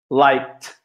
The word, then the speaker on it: liked: Loved, liked, liked, loved, lived. Então, tanto o lived quanto o loved, o som final é de D. E no liked, aqui, o som final é de T.